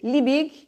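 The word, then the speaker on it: Liebig: o que ele pensou esse li Big né que é assim que a gente pronuncia o nome dele Dr li bigem Em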